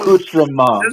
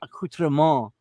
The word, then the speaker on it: accoutrement: accoutrement. Oh, never mind. I let it slip that I knew it was French. See, I'm sitting here acting like I'm all hurt. And you pronounced it wrong. It's accoutrement.